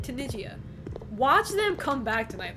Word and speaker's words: Tunisia: Assuming Japan like watch Tunigia. Am I even pronouncing that country right? Tunisia.